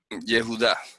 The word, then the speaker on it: Yehuda: a un error garrafal se pronuncia ayuda yehuda así es como se pronuncia que significa aguda yo